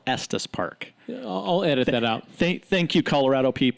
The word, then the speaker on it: Estes Park: there at St spark there wasn't any Addis wait a vs. you're not from Colorado it's called Estes Park Oh edit that out